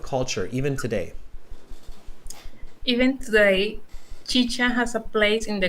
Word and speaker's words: chicha: carolina i'm canadian and i kept pronouncing it chica how much how much how much chicha do you think i've